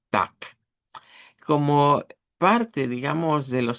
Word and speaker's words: Tag: Entonces, eh la regla en Dice que se reemplace cuando está al final de una palabra o de una sílaba, se reemplace la consonante vibrante por su contraparte no vibrante. Y de ahí es donde decimos tac.